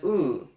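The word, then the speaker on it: ו: There's only one exception to this rule, and that is the conjunction wow, which is sometimes pronounced as oo.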